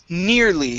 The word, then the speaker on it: nearly: uh next up is nearly instead of near nearly okay it's a long e sound ne near ne nearly nearly